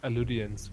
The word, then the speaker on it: Alydians: Oder sollen wir die Alydians oder Alydians, wie werden die ausgesprochen? Wie haben sie ausgesprochen, Jonas? Ich glaube Alydians wirklich, also so mit Ü.